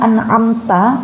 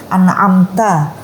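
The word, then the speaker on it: أَنْعَمْتَ: Contoh itu tadi, an'amta dibaca anamta. Lah, ainnya dihilangkan. Lah, ini kan berubah maknanya, minus menjadi ain begitu, menjadi apakah kamu tidur begitu.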